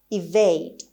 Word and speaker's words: evade: Evade. Evade. Evade. خب همطور که میبینید ای اول با صدای ای تلفظ میشه و استرس روی قسمت سیلاب دوم هست، یعنی روی وی هست.